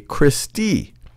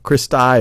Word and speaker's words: cristae: one of them you would call that a christie christie sometimes i've seen the pronunciation of this is cristae cristai or christie that's plural for crista and these